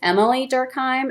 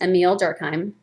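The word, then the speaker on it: Émile Durkheim: his name is Emil sometimes people see it the spelling and think it's Emilee Durkheim and that it's a female but it's not he is a man and it's pronounced emile durkheim and he argues that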